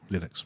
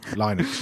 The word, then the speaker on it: Linux: of Linux as well Linux you mean yeah that's it Linux my name is lenux and I pronounce Linux as Linux uh juicy panan has